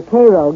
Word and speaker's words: Cairo: soil in and around cairo or cairo giving it the illinois pronunciation resembles that of its